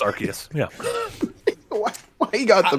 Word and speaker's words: Arceus: It's Arceus, not Arceus. I believe it's Arceus.